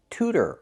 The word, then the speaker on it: tutor: But if you start the word with tu, we do not make that sound. We use the real t like in tutor or tuba.